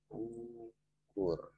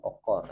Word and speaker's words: ukur: Ukur. Tidak bisa dibaca dengan okor ya. Kalau kita baca dengan okor, barangkali pemahaman kita yang tidak ada apa itu okor. Tapi yang ada itu ukur dalam aksara ejaan Indonesia atau Latinnya. Kemudian kita ingin mencontohkan U